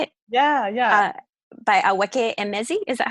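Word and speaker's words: Akwaeke Emezi: By Aweke Emezi. Is that how you say her name? Akweake Emezi. Akweake Emezi.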